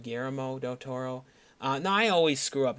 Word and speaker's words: Guillermo del Toro: correct your pronunciation like you call him gramo del Toro instead of Guillermo del Toro now I always screw